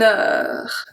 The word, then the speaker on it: heure: So we have une heure, une heure. So the H here is silent. Act as a voyelle if you remember the pronunciation course.